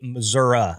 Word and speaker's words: Missouri: I know that people from Missouri like it to be Missouri, and actually, I don't even think that's Missouri.